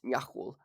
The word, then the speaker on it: Niaxul: Niaxul's name is technically pronounced Niaxul, but I don't really feel like saying that every time, so I'll just pronounce it Niaxul.